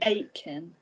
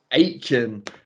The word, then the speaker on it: Aitken: How do you pronounce it, Jade? Aitken. Aitken.